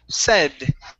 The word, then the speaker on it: said: here is the word said okay this is a short e sound instead of say long a it's short e said try that good